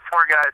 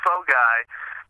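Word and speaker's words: phở gà: it it sounds fun you would think four guys is fun but no it's pronounced fog guy and Jesus actually first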